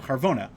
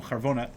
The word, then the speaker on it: Charvona: If you open up Megillas Esther, you will find a very interesting character named Charvona. Like we say in the song, the Gam Charvona Zachar Latov.